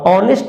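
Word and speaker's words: honest: और ऑनेस्ट मैन फिर से यहां पर एच दिया हुआ है और एच हमारा कसोनेंट है बट इसका जो साउंड है वो होता है ऑनेस्ट इसका जो प्रोनाउंसिएशन है वो है ऑनेस्ट और ऑनेस्ट लिखेगा तो इस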